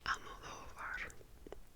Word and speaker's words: Almodóvar: This is um a Pedro Almodóvar movie. I always put the emphasis on the wrong uh syllable of his last name, but Almodóvar.